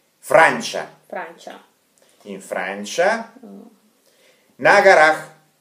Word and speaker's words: Francia: во Франции, in Francia, и так произносится, Франция, Франча, Франча, in Francia, на горах, в горе.